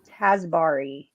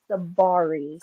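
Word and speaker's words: Tsabary: Shafali Tasbari, is that correct? I think it's Shafali Sabari. Sabari. Yep. Sabari. Yeah. The T is silent.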